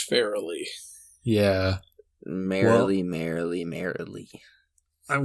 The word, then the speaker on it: Farrelly: by the farrelly brothers farley are we sure about that every review i saw online called them the farley brothers it looks like it's pronounced fairly yeah merrily merrily merrily